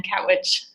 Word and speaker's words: Katwijk: It's here with Marianne Van Katwijk.